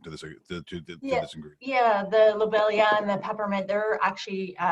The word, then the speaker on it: lobelia: uh is it lobelia is that how you pronounce that lobelia yeah yes that that seems to be significant